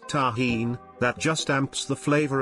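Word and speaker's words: Tajín: Not sure if you will be able to find it, but there is a seasoning mixture called tahine, pronounced tahine, that just amps the flavor of mango emo.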